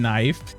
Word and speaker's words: knife: Why add the K in knife? That's fair. That's fair. Yeah, we have silent. We definitely have silent letters.